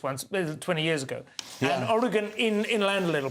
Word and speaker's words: Oregon: workplace and this is in Oregon which is pronounced Oregon not Oregon and I've been there it's a fantastic State